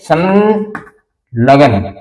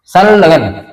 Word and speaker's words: संलग्न: इसी तरह से सन लय को भी डबल लय जैसा दिखाई हमें महसूस होगा, उच्चारण करेंगे संलग्न, संलग्न। ये लय लिखा नहीं जाता, संलग्न ऐसे ही लिखा जाता है और बोला जाता है संलग्न।